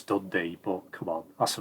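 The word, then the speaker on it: Dundee: are uh courti and D Day oned okay I know it's dundy but come on that's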